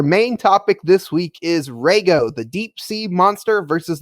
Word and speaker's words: Reigo: just me but it the in Japanese the way that it's supposed to be pronounced is Rago so yeah sorry if